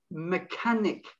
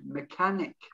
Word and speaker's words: mechanic: mechanic it isn't mechanic mechanic forget the h again mechanic uh the next one